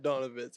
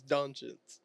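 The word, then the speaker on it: Dončić: It's not Donovitz. It's Doncic. Which language?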